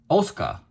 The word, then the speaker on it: Asuka: And then it says Asuka, which is actually not pronounced Asuka. It's actually pronounced Asuka, right? It's pronounced Asuka, if I remember correctly from the anime series.